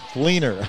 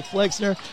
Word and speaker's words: Fleener: I keep saying it wrong. Fleener. I keep wanting to say Flexner. Excuse me. It is Fleener.